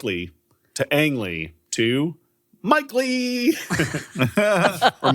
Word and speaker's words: Mike Leigh: to Ang Lee to Mike Leigh. Or Mike Leigh. Uh Mike Leigh I'm like Mike Leigh, but yeah, it's spelled differently, but Okay, so he's a classic uh goofster here.